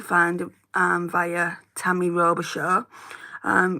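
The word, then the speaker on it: Robichaud: it um via Tammy robishaw um robishaw is spelled i o b i c h a u d um I'd go and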